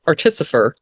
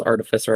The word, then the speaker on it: artificer: H because with Artisifer, yes, I know it's artificer. I'm saying it wrong for the bit.